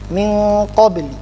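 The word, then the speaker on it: من قبل: Bacanya bagaimana? Nunnya disamarkan. Contoh min qa, min qabli. Jadi harusnya min qabli, min qa. Nunnya memang tidak sempurna, terlihat samar, langsung disambut dengan huruf qaf.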